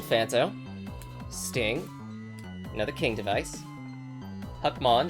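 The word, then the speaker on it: Hackmon: Sting, another King device, Huckmon as in Huckleberry Finn, or rhymes with puckmon and oblivion middlegramon zagamon which I think uh the Neilto was using this zapogamon Right.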